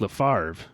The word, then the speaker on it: Lefebvre: Le Freve. We would say it like Lefebvre in English. Like Lefebvre. Brett Favre. Lefebvre.